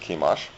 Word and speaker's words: Chemosh: They worshipped a god named Chemosh, or you may pronounce it Chemosh.